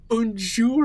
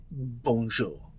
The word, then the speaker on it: bonjour: tiny and it had unsure at the bottom as that is not how you pronounce it bonjour bonjour bonjour bonjour better